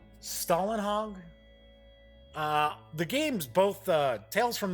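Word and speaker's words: Simon Stålenhag: I believe it's pronounced Stalinhog.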